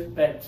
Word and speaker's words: bent: straight okay so this a lot of students want to hear the T on the end but in spoken English we don't really do the we just do a hard stop okay uhhuh it's like